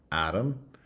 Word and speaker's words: atom: You can see the similar sort of thing in the contrast between atom, which has an a in the first syllable, and atomic, which has the schwa in the first syllable.